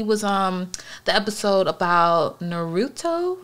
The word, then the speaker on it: Naruto: the show he was on the episode about naruto right that's how you pronounce it um yeah naruto boy i always